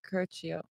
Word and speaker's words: Curcio: Am I pronouncing that right? Curcio. Curcio.